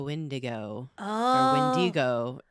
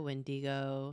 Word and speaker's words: wendigo: scary we're talking about a windigo as some people pronounce it oh windigo windigo wendigo windigo sounds like a resort